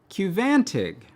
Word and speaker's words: Qvantig: And I was like, oh, they're spelling the U with a V, just like Daedalus. But no, this drug apparently is Qvantig.